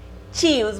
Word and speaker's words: tios: Tios, muito parecido em espanhol, né? Se escreve bem parecido. Lembre-se que T com I é sempre ti, por isso a pronúncia na maioria das regiões do Brasil será tios.